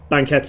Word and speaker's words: banquette: And then you've got banquettes, which is the consoles. Sorry, banquette. It's, you don't pronounce the S.